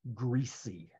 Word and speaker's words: greasy: How many of you say greasy with the S? Greasy. When we did this exercise in my college classroom, all I had ever heard my entire life, because I grew up in the deep South, it was greasy with a Z, a really hard greasy.